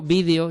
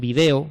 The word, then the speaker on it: vídeo: Videojuego, vídeo, lleva tilde en español de España, pero en América dicen video y escriben video sin tilde, ¿vale?